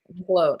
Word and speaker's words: Nicolo: But shout out to motherfucking Ghost and Nicole. He said 10 out of 10. That's how you say it, right? Nicolo. I said Nicole.